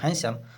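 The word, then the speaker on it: handsome: के दौरान Sam become हैंडसम इसको हैंडसम नहीं पढ़ते हैं हैंडसम पढ़ते हैं क्योंकि डी इसमें साइलेंट है सैम बिकम जो समम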